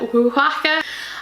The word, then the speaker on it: Oaxaca: And this is, oh god, here goes pronunciation, Oaxaca. It's written on the back of the box, I practiced it a bit, Oaxaca.